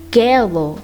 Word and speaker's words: gelo: Notice that it's not gelo, it's gelo, because it's before an E.